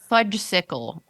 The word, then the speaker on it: fudgesicle: the correct pronunciation of fudgesicle in this week's podcast. Yes, I know there's an S in it. You know, you do not need to say it.